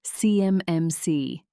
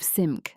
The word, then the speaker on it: CMMC: He says it CMMC, spelling it out letter by letter, like he's reading from cards instead of SIM, like anyone who's actually worked with federal compliance would say.